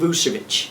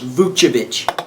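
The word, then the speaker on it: Vučević: Orlando shocks Chicago behind Oladipo and Vucevic.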